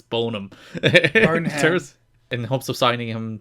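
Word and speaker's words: Boneham: It's probably Bonham, but the E is there, so I'm going to pronounce it. It's Bonham.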